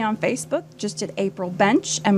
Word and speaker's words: Bensch: Facebook just at April bench and my last name is spelled funny B NS c h just think kind of German okay yeah that's right